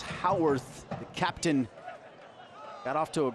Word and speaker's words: Howarth: understanding the game plan Howarth spouts h a wor th but pronounced how earth captain got off to